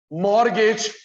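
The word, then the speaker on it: mortgage: ये देख, मॉर्गेज T silent होता है, मॉर्गेज जो गिरवी रखा, security, collateral, मॉर्गेज, security, collateral, एक ही बात है।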